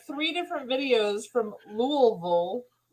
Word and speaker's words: Louisville: where Todd is at some people say Louisville when it's really Louisville so oh you did